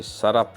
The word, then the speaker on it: Tsarap: লাদাখি ভাষায় টি এর উচ্চারণ তো হয় না, কাজী নদীটার নাম হচ্ছে সারাপ রিভার, TSARAP। প্রোনাউন্সিয়েশনটা আপনারাই করে নেবেন।